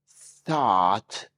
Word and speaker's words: thought: Thought rhymes with caught.